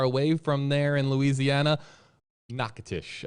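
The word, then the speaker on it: Natchitoches: from there in louisiana nakatish i think was the correct uh pronunciation this next one is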